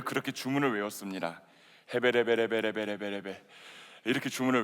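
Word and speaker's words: הבל: 헤벨. 네.이 헤벨이라고 하는 본문. 그래 가지고이 본문이 1장 2절을 그대로 읽으면 이렇게 발음을 하게 됩니다.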